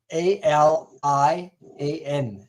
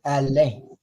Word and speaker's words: Alain: I think you said, and it says, how do you say that in French? It's Alain. I hope you heard me right. Alain. Okay, Mm. that's how you say it in French.